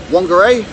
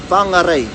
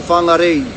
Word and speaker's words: Whangarei: Okay, so the mispronunciation of that place name that everyone says is Whangarei. It's actually Whangarei or Whangarei if you were to pronounce all the or enunciate all the vowels within it.